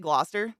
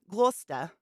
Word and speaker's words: Gloucester: Oh, do they pronounce it Gloucester? Gloucester.